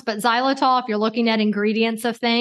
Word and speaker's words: xylitol: Kate, you mentioned xylitol.